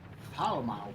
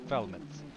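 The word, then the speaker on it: Falmouth: Foul mouth. I think it's pronounced Felmet.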